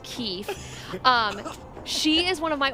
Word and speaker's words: Keeth: And Keith is spelled Keeth, pronounced Keith.